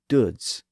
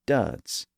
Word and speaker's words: duds: At the time, that word would have probably been pronounced more like duds, but around the time that Harmon was writing his book, you would have probably heard some people around London pronouncing it as duds. And that's because that vowel sound was starting to change in the south of England around this point in the mid to late 1500s.